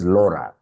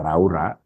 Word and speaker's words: Laura: It's Laura. Sio Laura. When you consider Elsa Keka Raura, it becomes very sad. Very sad. It's Laura.